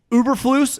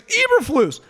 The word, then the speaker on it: Eberflus: it's like yeah i i can't take uberflues and everyone's like it's eberflus like when the guy